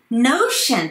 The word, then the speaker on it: notion: Notion っていうのは概念ってことですね。O があるので U を入れますね。これに発音が似ているのが lotion ですね。これもローで伸ばすんではなくて O があるので U を入れますね。lotion と notion ですね。